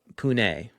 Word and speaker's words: Pune: corrected on my pronunciation so it's punee right punee thank you space turkey